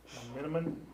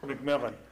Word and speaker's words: McMillan: are uh odot contact john miniman did i pronounce that right macmillan mcmillan okay all right uh and he